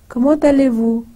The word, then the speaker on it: comment allez-vous: So we say, comment allez-vous? So remember, T is pronounced like te, and it is joined with aller.